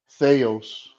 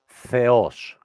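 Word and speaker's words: Θεός: read it for me Theos right only one small mistake uh the emphasis okay Theos no now you chck Theos the emphasis is on the O Okay Theos okay I thought that's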